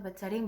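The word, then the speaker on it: Beth Sarim: Y yo le dije, mira, mi nombre es esto, ¿cómo se dice correctamente? Y ella me lo dijo y era lo mismo que yo estaba diciendo, Betzarim, Betzarim.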